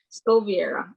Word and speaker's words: Skoviera: call um i have new agent um this pronounced your last name it's ethan scovera yeah let's go over here scoviera okay yeah yeah ethan has been with us